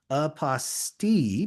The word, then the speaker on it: apostille: I like using the pronunciation aposti because it rhymes with unrestricted fees.